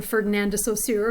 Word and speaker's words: Ferdinand de Saussure: And as she quotes here, the famous linguist Ferdinand de Saussure, or Ferdinand de Saussure, if you want to say it with a more English pronunciation, said that a word is like a